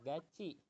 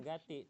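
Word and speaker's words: 같이: bisikin di depan guru jadi itu dibacanya gaci bukan Gati tapi gaci Heeh jadi bisa dibilang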